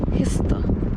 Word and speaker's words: Kista: Donc là je suis à Kista, mais je sais que ça se prononce pas Kista en suédois, c'est genre Kista, un truc comme ça.